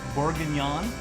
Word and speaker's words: bourguignon: It's short rib bourguignon. Did I say that right? You said it right.